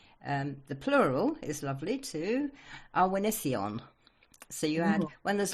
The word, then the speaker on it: Awenydd: Awenydd. Awenydd. Oh, I completely didn't have that. It's Welsh, which is the old British language. So double D is sounded like TH.